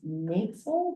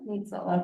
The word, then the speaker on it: Nel: So, I've been saying your name wrong. It's Nel. Nel.